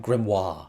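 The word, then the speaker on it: Grimmerie: that this is and apparently I've been pronouncing it wrong but the grimmery I feel like they say grimery in the stage show do they not say someone said it's like grimoire excuse me sir I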